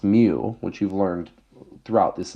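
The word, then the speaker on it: μ: This symbol, pronounced mu, which you've learned throughout this entire class, is a parameter.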